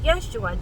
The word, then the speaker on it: Yeshua: People say, I can't pronounce Yeshua, it's just like saying Joshua with a Y, okay, Yeshua, Joshua, Yeshua, Joshua, you see?